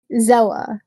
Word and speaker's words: Zella: I and she kind her name Zel Zela. So Z E L L A.